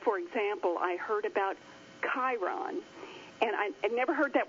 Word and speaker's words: Chiron: Like, for example, I heard about Chiron, and I'd never heard that word before in my life. I knew it was spelled with the CH. I knew it was pronounced with the K, and I knew it